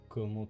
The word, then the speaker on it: comment: Like saying salut, saying comment tu vas. Yeah, and comment have a T at the end because let's make it hard instead of easy.